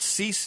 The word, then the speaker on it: Cease: Is it Cease? Does that say his name? Yeah, Cease?